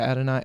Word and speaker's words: Adonai: don't know how to say his name adonier Adonia Mitchell yes absolutely all right hold up they both they both performed really well um ad and I yeah Adonai Adonai Mitchell he performed really well both those